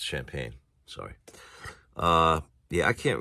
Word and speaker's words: champagne: pagnes and sparkling wines oh it's not chimp pagnes I'm sorry it's champagne sorry uh yeah I